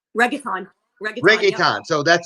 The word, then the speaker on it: reggaeton: Reggaeton? Reggaeton.